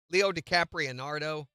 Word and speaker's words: Leo DiCaprio: He got some of them right, but really, Leo DiCaprio, number one. And that's the correct way to say his name, by the way.